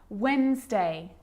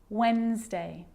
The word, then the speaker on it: Wednesday: letter D yep it can be silent to Wednesday handsome sandwich so I'm not pronouncing the D in sandwich I'm just pronouncing the consonant end sound before it try it with me one more time Wednesday handsome sandwich and a day can be very